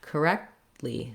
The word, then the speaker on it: correctly: i don't say correct correctly or correctly but both the k and the t are stopped correctly so i just stop my tongue don't let any air out until i get to the lee syllable once i can say